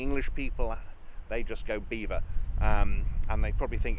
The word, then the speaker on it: Belvoir: So that's why it's called the veil of beaver because English people couldn't pronounce Belvoir.